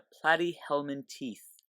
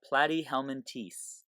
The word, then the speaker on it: Platyhelminthes: these flat worms are found in is the platy helman teeth that's how you pronounce this alright this is the platy helman teeth all right and so these platy hummin teast